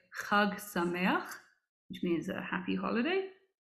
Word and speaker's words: Chag Sameach: In Hebrew, we say Chag Sameach, which means a happy holiday. And in Yiddish, slightly easier to pronounce, we say Gud Yontif. So let's try that. Chag Sameach.